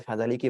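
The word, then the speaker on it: فذلك: Ini bacanya fadzaliki berarti ya.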